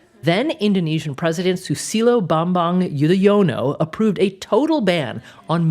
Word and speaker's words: Yudhoyono: Or is it it's like Yudhoyono. Yudhoyono.